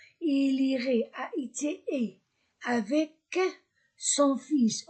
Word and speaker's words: fils: il irait enchaînement il irait et avec son fils. O fils son fils. Je prononce s je ne prononce pas elle.